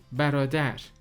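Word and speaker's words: برادر: oh arone anlamına geliyor Ayrıca erkek kardeş birader a broader telaffuz edilir benden sonra kesinlikle sizde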